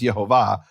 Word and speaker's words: Yehovah: Now, I'm not saying this proves Yehovah's name is Yehovah. That is the pronunciation.